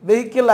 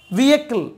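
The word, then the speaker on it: vehicle: வெஹிக்கிள், வெஹிக்கிள் அல்ல, வியக்கிள், வியக்கிள். Okay, வியக்கிள்.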